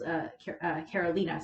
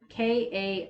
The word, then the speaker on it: Karolina: And Caroline's looking at him, and she's Karolina, sorry, Karolina. Whatever point I end up watching the series, I'm going to be like, oh, that's how you pronounce it.